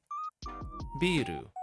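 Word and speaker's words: ビール: Biru. Though be careful how you pronounce biru, otherwise it becomes a building instead.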